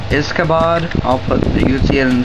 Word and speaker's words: Izkabod: Hey guys, Awesomeness257 here doing a review over a new mock called Izkabod.